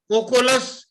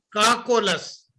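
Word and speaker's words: Cocculus: پوچھا جی، کوکولس اور کاکولس کیا ایک ہی دوائی کا نام ہے؟ سپیلنگ بتا دیں۔ پڑھنے میں فرق ہے، اردو میں پڑھیں گے تو کاکولس ہے، انگریزی میں پڑھیں گے تو کوکولس ہے۔ اچھا، میں ذرا جی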